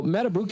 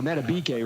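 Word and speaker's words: Madubuike: The doctors now Metabuk if you remember he was out or Mabake rather that's how you pronounce his name but he was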